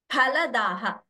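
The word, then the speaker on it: फलदः: And kshudra phaladaha. Pa. Please don't pronounce this as pa. It is not fa. It is pa.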